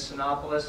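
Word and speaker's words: Cinépolis: be a new theater I believe the pronunciation is soon opolis I've not been corrected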